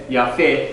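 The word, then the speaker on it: יפה: The E sound there, Yafeh. Everybody say Yafeh.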